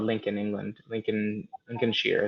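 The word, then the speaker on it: Lincolnshire: called Lincoln England Lincoln Lincoln Shear is I think how you pronounce it um and after doing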